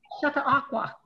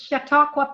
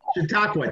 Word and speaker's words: Chautauqua: Can anybody pronounce that? Because I can't. Chata Aqua. Thank you. Yeah. Look at that. I got almost 1,000 views on that one already. And I just posted these. It's Chautauqua Park.